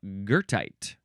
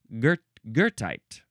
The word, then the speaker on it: goethite: And next we have Goethite. This is spelled Goethite. There is no R in the letters, but there's sort of an R in the pronunciation. Goethite.